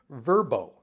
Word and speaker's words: VRBO: to be spelled out so VRBO is now going to be verb oh and here's a picture